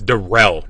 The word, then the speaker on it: Derell: I keep saying Daryl. It's Derell. Now, you have Derell. Sorry, I'm reading his name phonetically, but I know it's Derell.